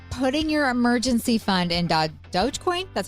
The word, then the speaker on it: Dogecoin: What about putting your emergency fund in dogecoin?